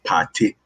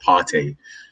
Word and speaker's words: Partey: I mention it all the time that, you know, if you're a true Ghanaian, the way to pronounce it is Partey. It's not Partey.